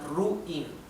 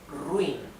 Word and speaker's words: ruin: into different syllables so we cannot separate this like ruin this is wrong wrong because two we vowels stay together so this is ruin one single syllable one single syllable this is